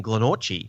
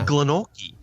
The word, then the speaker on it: Glenorchy: suburb called Glenorchy, but it's spelt Glenorchy. Yeah. So like when we first moved, I'd say, "Oh, I live in Glenorchy," and everyone looked at me like, "You're a freak. It's Glenorchy."